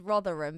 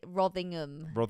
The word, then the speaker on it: Rotherham: roving Rotherham it's rot it's the place is Rotherham but you could rothingham you just added in an extra G for some reason we got Sacramento California